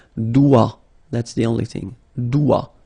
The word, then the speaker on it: doigt: Okay, so don't be frightened by this G because basically you don't pronounce it and then the final T you don't pronounce it. So the only thing you get to pronounce